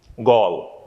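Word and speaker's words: Galle: other day when i was telling you the pronunciation right this is one of the place which was also affected by the tsunami gall it's in sri lanka okay so those are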